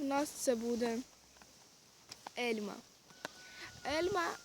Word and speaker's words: elma: в нас це буде Ельма Ельма Ельма не горить ельмо ельмо це неправильно Ельма або Ельма Ельма